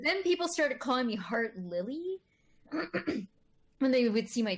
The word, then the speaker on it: Heart1lly: But then upon like second glance, it's like, oh no, that's Heart1lly. There is no L before that.